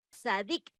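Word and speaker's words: צדיק: generosidad y la justicia e la pronunciación es sadik es un hombre que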